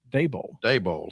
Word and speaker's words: Daboll: Brian Flores that were originally intended for Brian Daboll. Thank you. Because I wasn't quite sure how you pronounce that.